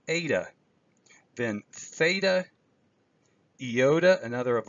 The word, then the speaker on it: eta: like the English letter yes in but it's pronounced ADA then theta yota another of our vowels Kappa